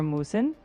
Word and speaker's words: musen: For musen, think moose in like a moose entering a room.